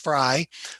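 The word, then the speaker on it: Frey: the fry house now this is f r e y it's pronounced fry the fries came to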